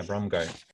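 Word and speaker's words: Braungart: Is it Brongata? Brongal? Bromgart. Yeah, Bromgart.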